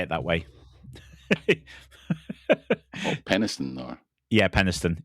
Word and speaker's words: Penistone: Penistone, or Penistone. It's spelled. It's not spelled like that. All right. Yes. Does it finish with town or just ton? Tone. Tone. Yeah, Tone. Tone.